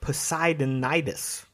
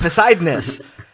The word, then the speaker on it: Poseidonis: So then Calder arrives in Poseidonitis. I didn't pronounce Poseidon, that. Poseidonis. Poseidonis. Yeah.